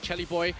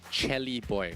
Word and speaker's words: Chelly Boy: We got his name wrong until yesterday, so now we're going to call him by the right way, Chelly Boy. Is it really Chelly Boy? Yeah, Chelly Boy. Okay, got it. I feel like there needs to be H in there if there's going to be Chelly. But right? Yeah. Like CH? Grammatically or phonetically speaking, right? Or maybe how they pronounce it in Indonesia for the C's.